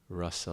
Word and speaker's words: rasa: he creates the whole rasa lila. So that's the pinnacle of rasa. The rasa lila, it's got a long A. Rasa with a short A refers to our emotional connection with Krishna.